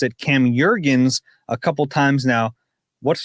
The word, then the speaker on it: Jurgens: Brady has pronounced it Cam Jurgens a couple times now. What's the correct pronunciation? I believe it's Jurgens. Yeah. He even has beef jerky. Yeah. Like his jerky company. Beef. Yeah. Yeah. Beef jerky.